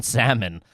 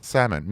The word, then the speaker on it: salmon: Do you pronounce the L in salmon? Because if you do, Salmon. No, I don't.